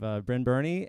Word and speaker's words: Brynn Byrne: um so today i have uh i have brynn burney and aaron yeager who are uh two out